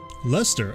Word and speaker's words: Leicester: Lester, okay, that's much easier to pronounce than the way I was doing it.